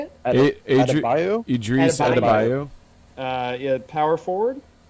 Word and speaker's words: Adebayo: Adebayo?